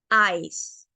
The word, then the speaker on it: ice: Ice, que empieza con la pronunciación larga de la vocal I, que en español es la I, se pronuncia la C y la E es silenciosa. Ice.